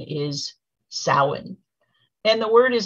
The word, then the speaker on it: Samhain: stories that have also cleverly fictional characters named sam hayne um including the 2007 movie trick or treat the actual pronunciation is samhain and the word is not the name of